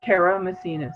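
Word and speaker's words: Karamessines: um can you give us your last name's pronunciation please era messiness karen martinez kara messinas yes thank you patricia karen messiness is the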